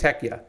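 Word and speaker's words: Hekija: how to pronounce it it's h e k i j a so I think it's heya um the heca is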